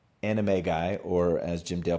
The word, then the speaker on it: Animagi: Number 4, Anime Guy, or as Jim Dale pronounced it, Animagi.